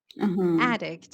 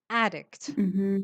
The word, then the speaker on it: addict: is called an addict addict and stress is on the first syllable addict so say it again